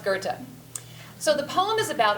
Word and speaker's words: Goethe: So it looks like it should be pronounced Goethe, Goethe, who knows? It's pronounced Goethe.